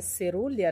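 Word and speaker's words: caerulea: orquídeas que são serulha a gente escreve com eruyá mas se pronuncia cerúlea né Elas são um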